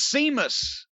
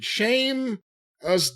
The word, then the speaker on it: Sheamus: and then here comes seamus and he grabs aj now seamus is why do you call him that that's the way it's spelled s-e-a-m-u-s it's an h